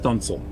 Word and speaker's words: studding sail: And then Pride of Baltimore has a couple of sails called studding sails, Studding, but it's pronounced stunsail.